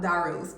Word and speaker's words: Daryl's: the A in there if you want to say Daryl's Road? You know, just leave or leave the Y out. Darl's leave the Y out, you know. But that's the way they spell it.